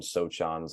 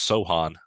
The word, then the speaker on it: Sochan: wimby and I mean sochan's on there too and no that's not how you say that sochan the sea is silent it's Sohan no way yeah you're lying